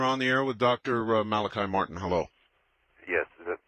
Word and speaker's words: Malachi: The Father Malachi, is it? Yes. Okay, pronounced it right.